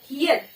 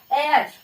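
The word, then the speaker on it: heir: फिर है year, हियर, हियर, हियर होता है उत्तराधिकारी, और इसे हेयर नहीं पढ़ते, ह नहीं पढ़ते, इसे पढ़ते हैं एयर।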